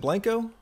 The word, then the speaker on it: Blanco: Is it Blanco?